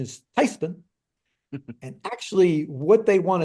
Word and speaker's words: Theismann: We're German by heritage, and called my grandmother. I said, Granny, they want to change the pronunciation of our last name from Theismann to Theismann.